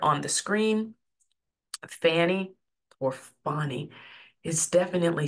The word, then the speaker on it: Fani: the screen Fanny or fonnie is definitely spelled uh Fanny but it's pronounced fonnie fny like f a w n y fonny or F A WN